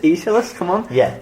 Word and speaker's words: Aeschylus: But people would really put like fancy pronunciations like Aeschylus. I was like, it's not. Come on, it's just Aeschylus.